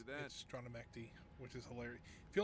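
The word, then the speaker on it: Strana Mechty: Stronamecti, which is hilarious. If you don't know what Stronamecti is is where the clans are. Kind of where the big it's Stronamecti. That's how it's pronounced.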